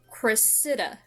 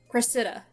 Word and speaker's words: Cressida: But so I was mispronouncing the main character's name. It is pronounced like Cressida. Cressida. I believe that's how she said it's pronounced. Cressida.